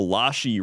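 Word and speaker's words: Iași: The little s with the comma under is pronounced like the shh in shei. So lashi Romania in the cultural hub of the country.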